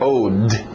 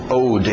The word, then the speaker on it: owed: Aliás, acrescentamos só o D, mas também a pronúncia só do D. Owed. Owed.